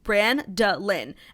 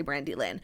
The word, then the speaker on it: Brandolin: to friday's episode and i'm brandon pronounced bran da lin and i cringe cringe when people say brandy lynn so the name does